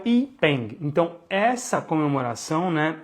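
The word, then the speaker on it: Yi Peng: E este evento, né, o que a gente chama de Festival das Lanternas, ele se chama Ipeng, Y-I-Peng, ou Y-I-E-E, depende muito de como se escreve, mas ele é o Ipeng.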